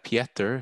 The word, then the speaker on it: Pieter: My name is not Pieter, but it's Pieter. It's the Dutch version with IE, but I know it's difficult to pronounce, or it's not a very international name, but it's like Peter in English, but then with IE as written in Dutch.